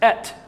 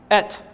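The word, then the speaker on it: את: And if you were to pronounce the Aleph and Tav, it's Et. Et.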